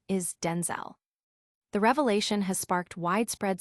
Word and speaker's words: Denzel: Washington explained that his name is not pronounced Denzel Ll as commonly believed, but rather Denzel with a clipped E sound in the second syllable.